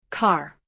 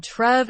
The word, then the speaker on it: Cartref: Car. As in Carrie, he said, and Trev as in the name Trevor. The emphasis is on the first syllable. The R in both syllables is slightly rolled.